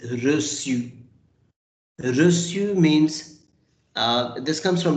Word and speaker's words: reçu: This cedille accent, because of this cedille accent, we pronounce it as reçu.